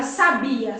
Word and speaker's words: sabia: bem assertivo por exemplo a palavra sabia sabiá e sábia são palavras que tem a mesma grafia o que muda de cada uma delas é aonde nós marcamos a sílaba tônica então quando eu falo